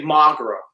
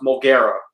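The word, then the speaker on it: Moguera: I'm like, whoa, fuck, sue me, But I would always say Magara, but I know it's more or less pronounced Mogera.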